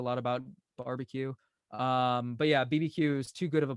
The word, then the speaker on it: BBQueue: pronounciation of your lips I call it BB Q so it's a play on BBQ and bit buffer q barbeque just cuz I come